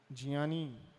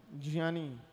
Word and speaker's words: ज्ञानी: उत्तर क्या है सही इसका उच्चारण? ज्ञा, ज्ञानी। पढ़ो, ज्ञानी, ज्ञानी। हाँ ज्ञानी, नाक से बोलना पड़ेगा, ज्ञानी। ठीक है?